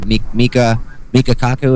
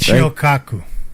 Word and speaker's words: Michio Kaku: Mika Kaku, isn't that how you pronounce it? Michio Kaku.